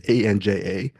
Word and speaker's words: Anja: Following her is Anya, or Anja, I don't know how to pronounce the name. It's Anja.